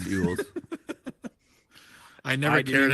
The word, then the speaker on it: Elwes: I always thought it was like Elwes or something like that. Oh, maybe. No, it's Yules.